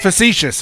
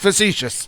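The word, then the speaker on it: facetious: Uh, facicious. He meant facitious. Yeah, I'm not good at remembering how facicious is pronounced.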